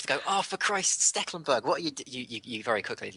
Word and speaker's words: Stekelenburg: Sticklebackberg. Trust me, the amount of times you have to go, oh, for Christ, Stecklenburg.